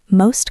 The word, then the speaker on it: most common: Most ends with T. Common starts with C, which is a consonant sound. Goodbye, T. Most common. Most common. It sounds like MOS.